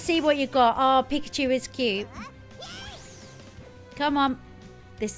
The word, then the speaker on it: Pikachu: evolving here guys not it's not pick at you it's Pikachu look I warned you